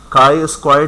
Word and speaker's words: chi-square: हमारे पास होता है काई स्क्वायर टेस्ट। सही? तो सीएचआई क्या होती है? इसको प्रोनाउंस करते हैं का स्क्वायर टेस्ट।